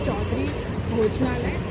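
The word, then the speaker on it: Chaudhuri Bhojnalaya: So that, as you can, as I have pronounced their name, it is Chaudhary Bhojnalaya, and I will give you the address details.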